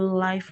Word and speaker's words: live: Ini bacanya bukan live tapi live. Kalau Ah. live itu artinya langsung, seperti siarannya disiarkan langsung, yaitu live. Kalau live itu artinya tinggal.